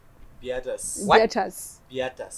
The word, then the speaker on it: Beatus: I would understand if you say Beatus because it's beat us, squashed together, but it's pronounced Beatus.